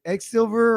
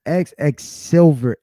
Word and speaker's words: XXSYL: X, is it X Silver or Quicksilver? What is it with It's your dad, bro? XXSYL. So how do you pronounce it? It's XX Silver.